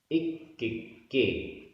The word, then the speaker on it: इक्किक्के: लोयायास पदेसे, लोयायास पदेसे इक्किक्के। इसमें क आधा का पूरा का दो बार है।